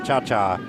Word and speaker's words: Cha-Cha: I did check the name on her pronunciation, so Gretchen is Cha-Cha.